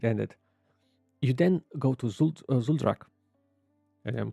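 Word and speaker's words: Zul'Drak: You then go to Zuldrak. I'm pronouncing correct? Yeah, Zuldrak.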